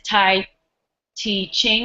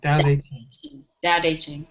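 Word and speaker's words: Tao Te Ching: um is a quote that um for it's Tai T Ching is that correct Scott no it's the doub itching I am all wrong say it one more time you pronounce it da da day Ching da Ching okay fill your bowl to the brim and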